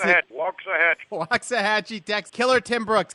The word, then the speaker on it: Waxahachie: Gary Cubetta back with you again, and it's my pleasure to introduce from how do you pronounce it? Waxahachie.